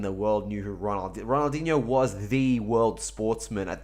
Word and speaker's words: Ronaldinho: and every single time he would pronounce him Roald dilio he would call him role dealio instead of Ronaldinho and I'm like how